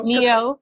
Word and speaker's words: Neo: Leo, I'm a Leo, rhymes with Neo. Yeah. Oh, there you go. Neo.